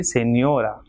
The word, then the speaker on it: señora: Same way, señora, 3 syllables, señora. So second last will be stressed as it is ending in a. So it will be señora.